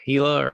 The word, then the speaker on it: Hela: Is Hela or Hela, how do you Hella. Yeah. pronounce that? Uh Hela, yep.